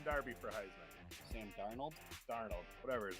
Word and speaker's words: Darnold: I said Sam Darby. Sam Darby for Heisman. Sam Darnold? Darnold, whatever his name is.